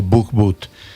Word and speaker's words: Bohbot: Pues me alegro con su familia, este, con el niño, con la esposa, con toda la familia, el canbot o bookbot, si quiere la pronunciación en hebreo.